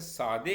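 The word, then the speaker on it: ساده: अगले अल्फ़ाबेट है सीन, इसे शब्द बनता है सादे। फारसी में हम इसे सादे कहते हैं, जबकि हिंदी में इसे सादा कहते हैं।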